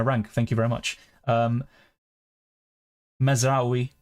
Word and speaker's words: Mazraoui: Mazraoui is the pronunciation.